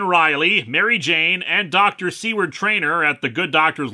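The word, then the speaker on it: Seward: the good doctor's laboratory I should note that indeed seword is the correct pronunciation of his name according to the life of Riley interviewers some commenters were confused about that I think I've pronounced it say word a few times it happens I'm not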